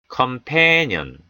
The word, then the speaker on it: companion: companion. companion. companion. A의 강세가 오에 따라 앞에 오는 O도 약화됩니다. 모음 약화죠. companion이 아니고요. 어에 가까운 소리, 약화된 소리, companion, companion, companion, 동료, 동료입니다.